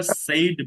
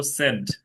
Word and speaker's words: said: তাহলে এখন থেকে আমরা সেইড বলবো না, বলবো সেড।